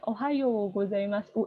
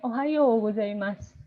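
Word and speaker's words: おはようございます: Jadi iyo-nya itu panjang karena ada u kecil, ada u-nya, jadi panjang ya. Ohayo gozaimasu. U-nya jangan dibaca Ohayo gozaimasu, jangan gitu. Bacanya Ohayo gozaimasu.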